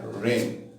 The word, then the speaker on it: reign: ये वर्ड है reign, इसमें जी साइलेंट होगा।